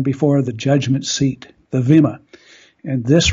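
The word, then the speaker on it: bema: was something called the Vema, spelled B-E-M-A, but as I was quickly informed, it's pronounced with a V, so Vema, which means judgment seat.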